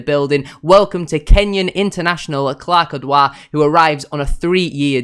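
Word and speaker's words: Clarke Oduor: I believe it is Clarke Odouur. Simon Parker has tweeted multiple times saying that's how you pronounce it.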